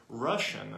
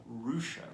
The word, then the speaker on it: Roosian: This is the rouchian rabbit or Russian according to some, but I like it pronounced and spelled Rian.